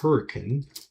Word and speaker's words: Hurricane: It's spelled Hurricane, but if you're from anywhere in southern Utah, you're pronouncing it Hurricane.